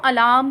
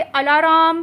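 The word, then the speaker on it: alarm: अब अलार्म clock जो है, बहुत सारे लोग इसे अलाराम कहते हैं, अलाराम क्लॉक। तो मैं आपको बताते जाऊँ दोस्तों, आर इसकी स्पेलिंग में ज़रूर है, लेकिन ये चुपचाप बैठने वाला आर है। ऐसे शब्दों को, ऐसे अक्षरों को, जैसे यहाँ पे आर है अलार्म क्लॉक में, तो आर को कहा जाता है साइलेंट। यानी कि ये लिखा ज़रूर गया है लेकिन ये बोलेगा नहीं, ये वाला आर चुपचाप बैठा रहेगा, इसे साइलेंट रहना है जी।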